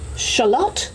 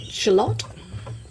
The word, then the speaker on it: shallot: Fuzzy peach, shallot or shallot, depending on which part of the world you live in. We pronounce it shallot. in Australia, Louisiana Bayou, and I love what I've seen of this.